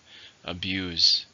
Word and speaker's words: abuse: or something to verb how many syllables in the word abuse to stress in a second abuse don't abuse my trust